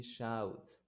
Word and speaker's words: shout: He shouts. Shout. Exactly, O-U-T, out.